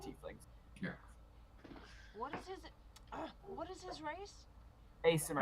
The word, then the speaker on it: Aasimar: Well, there are two types of Asimir. Their Asimir can be born of humans, Mhm. or they can be spawned, just like tieflings. What is his race? Asimir. Asimar.